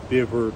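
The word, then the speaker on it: Bifur: Now, in Old Norse, the F's would still be pronounced V, Biver, Bulver, but that's clearly where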